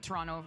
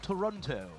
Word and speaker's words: Toronto: It would be a long long road to Masters Toronto for either of these team. How pronouncing the T at the end there.